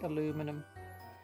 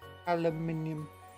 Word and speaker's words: aluminium: voice and as was pronounces things in the British way like get C to say aluminum aluminium aluminium aluminum you'll see you'll see